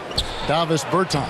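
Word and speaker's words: Dāvis Bertāns: bans is that how you say his name Davis Berton Davis Berton yes what a great stroke I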